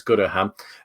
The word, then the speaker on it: Goodham: looks to be a Tyler goodham I think is how you say it he's got a KN missing but it's goodam uh for around about